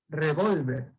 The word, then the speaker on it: revólver: Como tengo ahí la palabra, esta palabra, y como la tilde está en la O, entonces yo voy a pronunciar revólver.